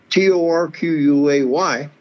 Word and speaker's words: Torquay: down there at a little little community called torquay t-o-r-q-u-a-y but they pronounced the torquay so he says this song reminds me of